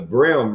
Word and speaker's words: Bream: at the Speckled Perch, they have the little bar called the Brim Room. Yep. And it has a cowboy hat and boots on the front, but it's spelled BREAM like the fish.